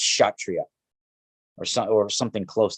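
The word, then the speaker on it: Kshatriya: the the shot trios right spelt um it's pronounced chatria but it's it's spelt like k-s-h-a t-r-i-y-a like that's but it's pronounced chatria or some or something close to that right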